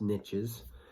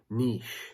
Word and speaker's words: niche: niche, if you will, depending on how you say it. Niche. Niche used to be a normal word, which I refer to most times on my channel, but sometimes people still resort to niche, even though it's French.